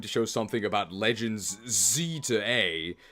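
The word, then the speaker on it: Z-A: show something about Legends Z to A apparently that's how it's said in Japanese it's literally Zed a so Z to A my greatest fear for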